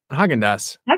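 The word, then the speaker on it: Häagen-Dazs: Is that how you pronounce it? Haagen-Dazs? Haagen-Dazs. Is that right? Yeah. Haagen-Dazs.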